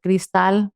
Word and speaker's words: Cristal: Instagram, TikTok, YouTube, it's Cristal. So spell it. It's Cristal with an I. So it's supposed to be in Spanish like Cristal.